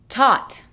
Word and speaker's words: taught: Taught. Though. Fought. Through. Throughout. Thorough. Tough. Para empezar tenemos taught. Ese sonido ah es justo entre la A y la O.